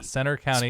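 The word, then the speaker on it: Centre County: C-E-N-T-R-E. Yeah, Center County. Spelled like the Centre. The English way.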